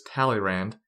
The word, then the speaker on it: Talleyrand: History remembers this man as simply Talleyrand, which I will now Anglicanize and pronounce in English as Talleyrand.